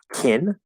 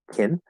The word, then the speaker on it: can: Okay, and it's going to be pronounced either as kin with the vowel like it, kin. It's going to be pronounced with a schwa like kun, or it might even just be kun.